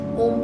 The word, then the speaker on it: Om: A lot of people do it differently, but the way we concentrate and do the Om is that the O should be short and the Ma should be long.